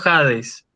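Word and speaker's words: ᾍδης: Esa iota no se lee, es una iota que forma parte del diptongo impropio, ¿sí? Ah, Entonces yo lo leo Hades, con espíritu áspero, ¿sí? Pero no pronuncio la iota, porque es una iota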